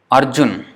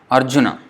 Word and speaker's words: Arjuna: for example we say Arjuna Arjuna in Sanskrit it's Arjuna so Arjuna now the last is also pronounced so Arjuna but in Hindi it will be Arjuna the uh is not pronounced so that's how in